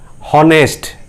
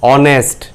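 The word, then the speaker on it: honest: जैसे देखिए यहां लिखा है हॉनेस्ट, मगर हम इसको पढ़ते हैं कैसे, ऑनेस्ट। ओके, यहां पे जो एच है ये साइलेंट होके आपका साउंड देता है ओ, यानी कि भावेल साउंड।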